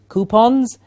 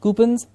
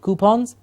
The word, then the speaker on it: coupons: lying on the bed please remember the pronunciation for Co you P ons coupons and not coupons but coupons in schools we have to